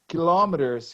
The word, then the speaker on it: kilometer: You see, the British people give the stress in the first syllable, kilometers.